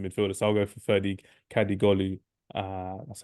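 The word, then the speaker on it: Ferdi Kadıoğlu: So I'll go for Ferdi Kadigolu. That's how you pronounce his name, and that's how you type his name as well.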